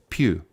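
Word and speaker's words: pueue: TW iare you to pronounce it Pew like Q is it okay yeah well that's how I'm pronouncing it that's what it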